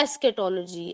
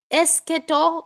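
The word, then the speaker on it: eschatology: eighty O एस के सीच वाला च जो है ना व ख के तरीके से यहां पर बोला जाता है एस्केटोलॉजी या फिर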